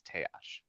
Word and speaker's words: Taash: The way that I imagine the goblin language is it's somewhat like Japanese where all of the letters are pronounced. Hmm. Um, so that's it's Teash.